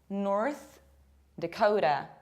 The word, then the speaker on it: North Dakota: Again, we have Ota that we pronounce not like Ota, but like Oda. North Dakota. And imagine that we don't pronounce A. D. Dakota.